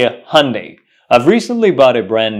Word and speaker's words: Hyundai: pronounce it uh Hundai it's not pronounced Hundai the correct pronunciation is Hyundai Hyundai Hyundai Hyundai Hyundai